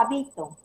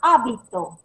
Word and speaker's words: hábito: Las tres palabras que estoy mencionando son diferentes a pesar que tiene las mismas grafías, las mismas sílabas. Pero, ¿en qué se diferencia? Se diferencia por una tilde.